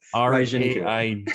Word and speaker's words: Reijinku: So it's, think of it kind of like almost like a French type thing, like Raijin, Oh, Jin, the Raijinku. Jin, Okay. Raijinku.